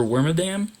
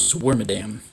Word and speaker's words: Wormadam: this warm atom or wormadam as a kid i always said it was swarmadam like that like i stress the syllables weird but i think it's worm adam warm adam i